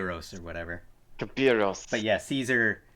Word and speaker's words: Caesar: or whatever but yeah Caesar Caesar is an anglicized version of Latin which does not have